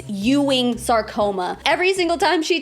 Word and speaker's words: Ewing: It's Ewing's sarcoma. Every single time she tries to pronounce it, she calls it Ewing. Ewing. Ewing sarcoma Ewing. Ewing. It's Ewing.